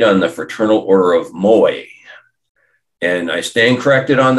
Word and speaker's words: Moai: the Fraternal Order of Moy and I stand corrected on that it's the Fraternal Order of Moy not the Fraternal Order of Maui I mean that's how